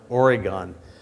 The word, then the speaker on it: Oregon: I mean, they don't even know how to pronounce Oregon. I mean, it's usually pronounced Oregon.